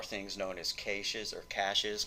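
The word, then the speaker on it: cache: known as CES or cashes cash is the correct pronunciation but it's spelled CA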